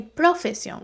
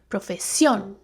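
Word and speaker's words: profesión: put the emphasis so I don't say profession or profession I say profession but as you as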